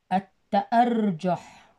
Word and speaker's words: التأرجح: خامسا التأرجح، التأرجح، الشمسية تكتب ولا تلفظ، الت أ الت أ ر التأر جو التأر جح تظهر عند اللعب بالمراجيح، مراجيح الأطفال، تأرجح تظهر عند اللعب بمراجيح الأطفال، التأرجح، التأرجح.